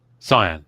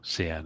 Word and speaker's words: cyan: Cyan, sorry. Or can as Americans tend to pronounce it incorrectly.